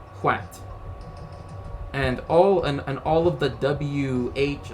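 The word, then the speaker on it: hwæt: But again, as I said, originally it was in Anglo-Saxon. It's spelled HW-T, Hwat.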